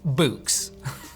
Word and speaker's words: Boox: read you read books books are spelled with a KS let's change it to an X for fun books I actually was interested